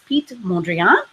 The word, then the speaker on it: Piet Mondrian: I spent a little time Googling how to pronounce his name, and apologies if there are any Dutch volunteers or volunteers that speak Dutch, please correct me, but it sounded like it was Piet Mondrian.